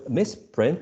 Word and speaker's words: misprint: And misprint is the action. So in this case, the correct answer is the yellow one, the circle, first syllable. Is the first syllable, right?